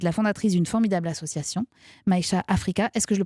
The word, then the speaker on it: Maïcha: Et je rappelle aussi que vous êtes la fondatrice d'une formidable association, Maïcha Africa. Est-ce que je le prononce bien? Non, Maïcha, c'est ça, Maïcha Africa.